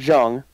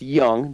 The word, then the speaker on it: Jung: year who is a josh young not jung it's pronounced young josh young for ranger fans out there i know it's spelled j-u-n-g sorry weird no but